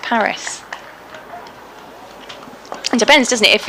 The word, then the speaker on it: Paris: localities method of pronunciation the french call it parry why do we rename it paris it depends doesn't it